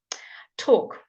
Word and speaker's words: talk: coming there you go talk talk talk walk chalk talk walk chalk okay all a l k all sounds o chalk walk talk all